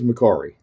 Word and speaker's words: Mercari: started so this is mccary okay that's how we say it in english it might be pronounced another way but the bottom line